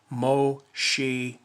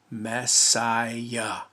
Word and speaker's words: Messiah: Because in John's day, it wasn't pronounced or spelled Moshiach. It was Messiah.